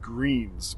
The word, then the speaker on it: Gruene: It was this area called, it's Greens, but it's not spelled the normal way. It's spelled Gruenes, something like that.